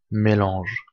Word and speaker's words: mélange: Mélange. Prononcé mélange.